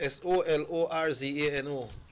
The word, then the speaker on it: Solorzano: Giovanni, how is pronounced? S-O-L-O-R-Z-A-N-O.